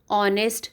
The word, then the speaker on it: honest: So the answer will be a noble master and an honest servant. As H is silent in honest, so we will add and we will go by the sound.